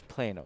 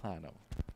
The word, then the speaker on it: Plano: So we have a viewer from Atlanta, Denver, and Orlando, and I was informed that I mispronounced Plano, Illinois. It's Plano, not Plano.